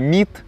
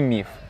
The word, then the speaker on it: міф: Це літера тета з грецької мови, наприклад, там в слові «міт». Зараз нам, як сказала, кажіть «міф». Ось ми зараз з новим правописом дозволили казати і так, і так. І «міт», і «міф».